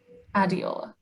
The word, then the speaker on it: Adeola: Adeola? Adeola: Yeah, that's fine. Jenn: Could you say it so, um, just so I know how to pronounce it? Adeola: Adeola.